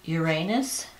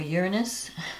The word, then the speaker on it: Uranus: it's conjunct the North Node um it's Trine Uranus or Uranus depending on how you want to pronounce it um so a lot of exciting